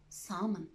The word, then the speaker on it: salmon: Exceptions in which the letter L is silent. Most common ones are would, could, should, half, calf, walk, talk, chalk, bomb, palm, salmon.